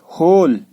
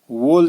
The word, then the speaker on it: whole: W silent है, रैप ज्यादातर ये यूज, WHOLE, होल, W silent है, होल बोलना है इसको, वोल नहीं बोलना है, होल।